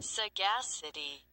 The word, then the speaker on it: sagacity: Man, sometimes when you put a like a prefix on something or a suffix, and it's just like all of a sudden you have emphasis on a different syllable, and it's just, I